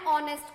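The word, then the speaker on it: honest: है अब यहां देखो ही has been considered an ऑनेस्ट कंटेस्टेंट नॉट अ ऑनेस्ट क्योंकि वैसे तो हमारे यहां पर मतलब क्या है साइलेंट है ठीक है अगले क्वेश्चन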